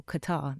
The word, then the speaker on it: Qatar: So we were living in Qatar, a place people call Qatar, they pronounce it wrong, in a place called